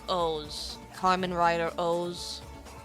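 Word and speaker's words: OOO: It's pronounced like O's.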